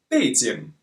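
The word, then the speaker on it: 背景: fades in means the Chinese capital Beijing but pronounced fades in it means background now you probably think that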